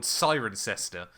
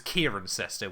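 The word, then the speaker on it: Cirencester: There's a town near me chat called Sirencester um that Jamie 183 thought was Kieran Cester which was hilariously painful.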